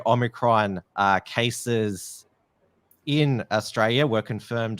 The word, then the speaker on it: Omicron: us know that the Omicron transformers, the variant is not pronounced like the transformer Omicron, but like the actual Greek letter Omicron.